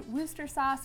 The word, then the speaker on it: Worcestershire sauce: beef broth, 1/4 of Worcestershire sauce, or however you say it. I know it's actually pronounced wooster sauce, but if I say